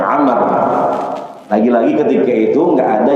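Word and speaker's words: عمرو: Karena ketika menus amr itu harus ada wunnya di belakang ra. Jadi ain, mim, rau. Nah, itu dibacanya amar.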